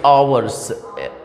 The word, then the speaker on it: hour: फॉर आएगा, तो फॉर और 2 आवर्स, आवर्स यानी इसमें से एच साइलेंट होता है, आवर, तो आवर्स HOURS, और देन क्वेश्चन मार्क भी लगेगा।